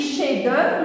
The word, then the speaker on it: chef-d'œuvre: Donc, alors, quand je lis chef-d'œuvre, le F ne se prononce pas.